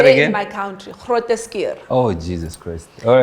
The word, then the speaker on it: Groote: in my country, Groote.